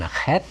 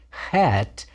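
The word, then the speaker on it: ח: is a t sound hat is a guttural sound like the ch in bach if you sound like you're gargling but to make you make the sound in your mouth not in your throat that's close enough for folk music and the tenth letter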